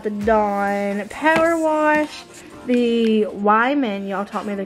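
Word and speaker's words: Weiman: The Wyman, y'all taught me the correct way to say that because I was calling it Wee Man.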